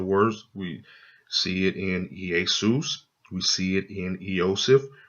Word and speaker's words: Iesous: it looked, how it was spelled, and you pronounce this Iesous.